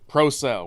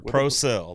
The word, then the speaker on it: Procell: first of all uh proell with proell that's what I figure proell like batteries yes yeah not a